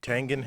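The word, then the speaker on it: Tengen: the nes that's right tangent has a hard g just like gif this version is one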